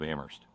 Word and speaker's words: Amherst: the People's Republic of Amherst where I will add only the H is silent so I will I